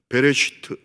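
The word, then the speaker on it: בראשית: 제목은 베레스트입니다 따라해 보실까요 베레스트 발음을 잘해야 돼요 배를 슈트 히브리어거든요 영어로 번역하면인 더 비기닝입니다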